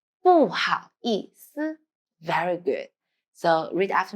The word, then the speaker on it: 不好意思: 不好意思. When you pay attention, 思 you need to lightly. 不好意思.